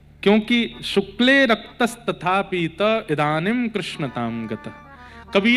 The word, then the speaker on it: कृष्ण: कृष्ण, इस शब्द का उच्चारण कई लोग शुद्ध नहीं करते, क्योंकि शुद्ध कर लेंगे तो फिर भगवत प्राप्ति हो जाएगी। इसलिए सब लोग इस नाम को, कोई किशन बोलता है, कोई कृष्ण बोलता है, कोई कुछ बोलता है,